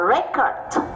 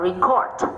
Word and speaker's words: record: Ta đọc là record khi đó là trọng âm, à khi đó là danh từ. Còn ta đọc là record khi đó là động từ.